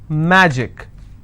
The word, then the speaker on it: magic: will stress on track magic i will stress on ma picnic i will stress